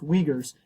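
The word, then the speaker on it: Uyghurs: and culture as well wegers are people pronounce wegers UI H RS Wagers are people we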